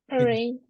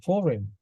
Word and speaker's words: foreign: you repeat it please forign it's wrong not forign foreign foreign foreign not foreign